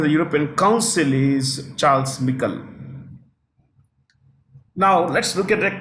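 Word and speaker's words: Michel: European Council European Council European Council Charles or some people called Michael it's actually Michael he's a former Prime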